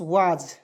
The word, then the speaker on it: was: उसके बाद WAS, वाज, WA का उच्चारण करेंगे वा के रूप में, एस का उच्चारण जा के रूप में करेंगे, वाज हो गया।